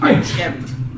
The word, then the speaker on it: Artem: It's actually pronounced Artem.